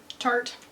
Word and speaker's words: Tarte: Some, how do you pronounce that? Tarte.